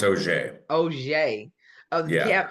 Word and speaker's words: Auger: Pronounce is you got a French last name, Auger I do. Yeah, it's a pronounced OJ.